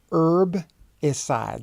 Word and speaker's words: herbicide: a proper habitat herbicide herb aside that H is silent not herbicide but you will find some people speak it that way and perhaps in British English you might find them herbicide herbicide like suicide like homicide suicide is to kill oneself